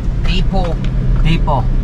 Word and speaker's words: depot: Depot. May T. Silent T yan eh, Ah, Silent T Depot.